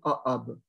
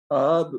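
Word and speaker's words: Aab: Ce monsieur s'appelait Ahab. Son nom s'écrit A-A-B. Donc voilà, Ahab Pierre-Eugène, Paris 1835, c'est sa naissance, mais on ne sait pas quand il meurt.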